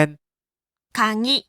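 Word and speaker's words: かぎ: สูง กลาง ต่ำ ครับ ถึง แม้ ตัว นี้ จะ ออก เสียง กลาง ว่า คะ ก็ ตาม แต่ พอ พูด คำ ว่า กุญแจ จะ เป็น คางิ คะ ใช่ มย คิ คิ เสียง ต่ำ นะ ถ้า พูด เป็น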